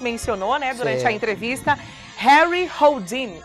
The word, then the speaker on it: Harry Houdini: Harry Houdini, é assim que pronuncia, né?